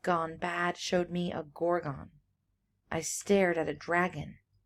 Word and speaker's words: Gorgon: I also mispronounced Gorgon. I say Gorgon, but I guess it's Gorgon, dragon. There's supposed to be kind of a rhyme there.